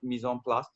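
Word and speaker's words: mise en place: actually shared this phrase with me it's called mison plus right it's pronounced mison plus uh i don't know some of you might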